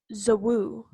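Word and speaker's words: Zouwu: how to pronounce it z o u w u so it's like so whoo it's called a giant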